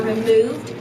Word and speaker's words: removed: So the United States has not held up its end and has not removed, longer sound for removed, and has not removed North Korea from the list of terrorists.